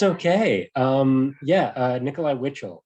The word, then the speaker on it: Witschl: um yeah uh nikolai witchell it's um a bit of an odd last name because it doesn't have enough vowels for the number of syllables that it should have yeah but i like